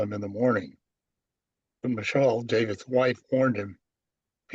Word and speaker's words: Michal: Michael, yeah, I don't, you want the Yeah. Hebrew pronunciation, Harry? It's Michal.